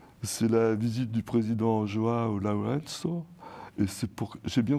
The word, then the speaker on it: João Lourenço: C'est la visite du président João Lourenço. Et c'est pour... J'ai bien prononcé?